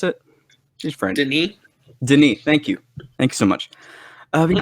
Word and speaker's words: Denis: Is that how you pronounce it? She's French. Denis.